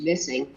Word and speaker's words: MSSNG: eliminated that program is called mssng pronounced missing as parts of autistic